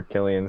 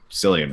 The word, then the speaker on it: Cillian: not I don't know but it is it's pronounced Killian I've always thought I've always read it and heard it as Killian yeah that's cool but I've also heard people call him silliam before but his name is Killian because I've